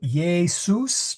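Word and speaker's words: Iesus: Um so, yus. Try not to make it yus. I realize we see say Jesus. we make that s a z sound. So just be careful it uh doesn't leak out into your English or into your Latin.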